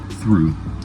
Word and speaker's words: through: Through, throughout, thorough, thoroughly, tough, and thought. Why are those GHs not making sounds?